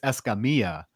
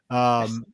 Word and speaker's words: Escamilla: Okay, so if you want to be technical and pronounce it the correct Hispanic way, it's Escamilla. Escamilla. Oh. Because, you know, double L's in Spanish are Y's.